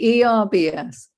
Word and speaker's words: herbs: Herbs? Herbs with an you H. actually pronounce the H.